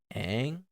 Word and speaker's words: Aang: She's like, "No, it's Ong." And we got in like this argument about what's the right pronunciation. I'm like, "It's freaking Aang, okay? It's Aang. Like it's there's no confusion. It's always been Aang.